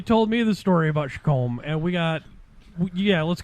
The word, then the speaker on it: Chacom: i said yeah i'll take some of those shakums it's per it's it's spelt c-h-a-c-o-m i keep thinking where the millers